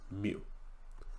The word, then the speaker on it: mu: value and that is the lowercase greek m which is pronounced mu it looks like that